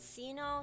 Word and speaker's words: Shino: It's in Japanese it's Shino, so it's like Sino or Sino, depending on. I think English say Sino, but yeah, Japanese pronounce it as Shino. So, Yes, it's not a hard K either way. no, yeah, it's not a hard Or, K. or hard sound. It's not a K sound either way.